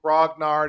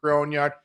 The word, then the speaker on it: grognard: have also talked about the correct pronunciation of the word is it grognard is it groin yard you know I think from our our our exchanges my friend I think they're pretty much interchangeable what do you think